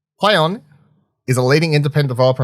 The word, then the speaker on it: Plaion: It's spelled Plaion, but pronounced Plaion. Plaion is a leading independent developer and producer of